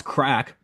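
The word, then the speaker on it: craic: c's instead of K uh let's see Craig pronounce crack CRA is um Irish slang that meets fun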